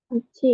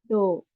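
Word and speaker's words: 道: Michi itu jalan ya. Michi cara bacanya ada dua, michi sama do ya.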